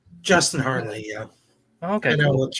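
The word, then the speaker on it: Hartley: new show called like tracker with um Justin heartley or or or am I getting that name wrong Justin Hardley yeah okay I know what you're talking about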